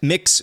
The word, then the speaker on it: Mx: Quote, if you have to dump your ex-husband, Mix Benson said, that's MX, I think that's how you pronounce it, Mix Benson said, co-dump him with his mistress.